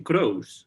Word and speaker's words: Croce: di cuenta de que mucha gente pronuncia su apellido como james crouch y entonces ahora estoy más acostumbrado a decir la forma estadounidense y entonces me va